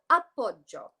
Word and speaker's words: appoggio: And it's this term called appoggio. So it's spelled Appoggio, appoggio, right? And the technical definition of this in Italian, it's an Italian word.